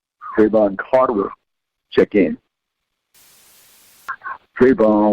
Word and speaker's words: Trayvon: Trayvon like Antoine. That's how it's spelled. That's how I pronounce it.